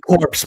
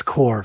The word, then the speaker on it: core: I always pronounce it corpse, but it's core, folks. It's skeleton core.